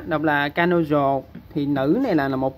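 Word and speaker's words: 彼女: Rồi tiếp theo, rồi chúng ta tiếp theo ha, nữ xô trong từ bỉ nữ á, đọc là kanojo, thì nữ này là một bộ thế bạn, thành ra mình cứ viết một bộ nó bình thường thôi.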